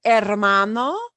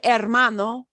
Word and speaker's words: hermano: would call them El hermano e la hermana si is and notice with these words that start with h we don't pronounce the h the H is silent daughter El hermano Brother LA hermana sister